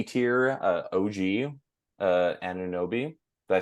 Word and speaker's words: Anunoby: B tier, OG, Anunoby.